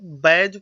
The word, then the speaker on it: badge: और उसमें यहाँ पे देखिए BADGE, डी साइलेंट है, सिर्फ जी आ रहा है, ये बैज पढ़ा जाएगा, बैज।